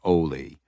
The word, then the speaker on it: Oie: Waiting through the brush with her was the boy she knew as Oie, which she pronounced with a long O, rhyming with goalie.